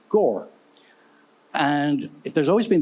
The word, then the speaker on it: Gower: understands the name because it's felt like it should be Gower but it's pronounced Gore and if there's always